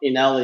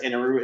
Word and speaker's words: Eneru: Um, ENL is just the more popular American selling or pronunciation, whereas Inaru is the Japanese more correct Japanese version.